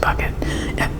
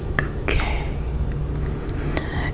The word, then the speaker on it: Bucket: The postman comes by and calls her her name and she's always telling him it's bouquet. I got some help from you, Mrs. Bucket. It's bouquet.